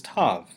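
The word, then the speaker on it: תו: With the dagesh, Tav is pronounced like the T in telephone.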